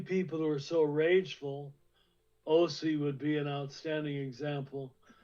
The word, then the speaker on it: Hosea: So these same people who are so rageful, Osee would be an outstanding example. I think you pronounced it a little different. How do you say Osee over there? Hosea? Hosea, yeah.